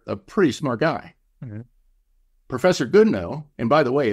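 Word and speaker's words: Goodenough: pretty smart guy professor goodno and by the way it's spelled good enough I think it's pronounced good no but it's good enough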